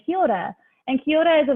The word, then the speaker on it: kia ora: It's a way of saying hello, kia ora. It's a bit hard because you don't have to. You can say kia ora, but you try and roll your R.